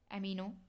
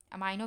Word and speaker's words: अमीनो: 2 अमीनो, अमाइनो भी बोल सकते हैं आप, प्रोनाउंसिएशन है सबका।